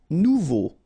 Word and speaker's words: nouveau: Nouveau. Remember, combination of E, A, and U together, it's O. So you get nouveau. Okay?